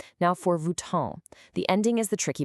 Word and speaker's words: Vuitton: It's not Vuitton. That on is a French nasal sound. It's kind of like you hum the N in the back of your throat. Vuitton.